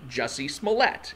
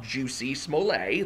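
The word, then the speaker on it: Jussie Smollett: example being jessie smallette uh it is actually jesse smollette it is not juicy smollet that is a dave chappelle joke to to pronounce his name that way is the dave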